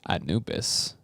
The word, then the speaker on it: Anubis: Is that how you pronounce that? Anubis? That's right, Anubis.